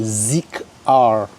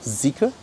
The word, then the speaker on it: ZEEKR: They're like ZEEKR, but it's called ZEEKR, all right?